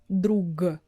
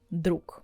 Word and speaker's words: друг: For instance, have you ever noticed that the word друг we pronounce with К sound at the end? We're not saying it the same way as it's written. We're not saying друг. We're not using clear Г at the end. We say друК.